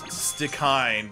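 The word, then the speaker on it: Stikine: It's actually pronounced Stickine, but I've been saying Stickany because it's more fun to say.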